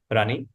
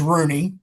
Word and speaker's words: Runey: Today we have superintendent Rani um from u you help me pronounce it right. It's Bath Regional School, right? Um my last name is Rooney.